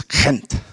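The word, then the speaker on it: Gent: um I was told somebody told me it was Kint okay he was Dutch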